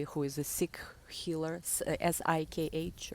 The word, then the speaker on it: Sikh: I have a great friend in Bali who is a Sikh healer, Sikh, right? That's how you say it, who wears turban, and he's a great healer.